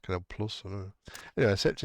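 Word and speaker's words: Canal+: Is that pronounced Chanel? Was it Canal Chanel? Isn't that like a beauty products? That's pronounced Canal Plus.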